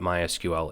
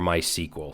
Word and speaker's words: MySQL: Let's talk a little bit about what MySQL is, or MySQL. Some people pronounce it MySQL.